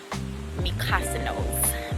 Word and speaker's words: Mykonos: That's how you pronounce it. Y'all have been struggling with that name. Mykonos. Because it's not said the way it's spelled.